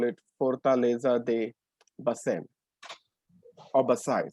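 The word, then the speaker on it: Baçaim: So, welcome to Vasai Fort, or how the Portuguese would call it, Fortaleza de Basem, or Basai. Sometimes the M is silent, so it is just Basai.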